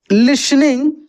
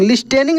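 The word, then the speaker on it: listening: फॉर his entire life लिसनिंग इसको हम पढ़ेंगे लिसनिंग लिनिंग नहीं पढ़ेंगे टी साइलेंट रहता है ठीक है लिसनिंग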